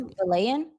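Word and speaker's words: Vilain: Valan, Luigi Valan.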